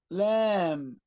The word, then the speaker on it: lamb: خلي بالك لما تلاقي الام لازقة في البي، البي ما بتنطقهاش، لا تنطق. كلايم كلايم، لام لام.